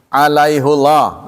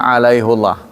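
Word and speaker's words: عليهُ الله: Ya, alaihullah. L saking kuatnya ini dibacanya biasanya alaihi tapi ini berbeda dibacanya alaihullah ya.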